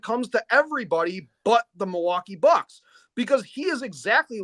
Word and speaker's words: Milwaukee: I know you don't say Milwaukee like the rest of us do because we don't pronounce the L here because we're too drunk to do it.